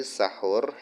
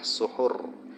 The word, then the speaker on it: suhur: Jadi sahur ini cara bacanya yang benar adalah suhur. Kalau sahur itu makanan yang dimakan pada waktu sahur.